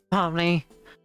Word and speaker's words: Pomni: sure I heard another student address her as Pomni. No, no. She's I can't pronounce that. Go yourself. X duh X duck or X duh duck It's Pomni.